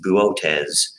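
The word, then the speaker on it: Boötes: and this is a very funny word it's pronounced buotes and there is a very bright star in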